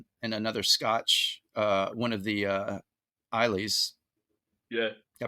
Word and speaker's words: Islay: do one in another Scotch, one of the Isleys. Yeah. Did I pronounce that right? Islay.